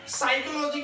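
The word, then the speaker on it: psychology: फिलोस कहते हैं मनोविज्ञान साइकोलॉजी कहते है अब य प जो है साइलेंट में है अगर ग्रामर पढ़े आप लोग तो ध्यान रखिएगा थ क्लास के बच्चे है आप लोग य प साइलेंट है इसलिए य साइकोलॉजी पढ़ते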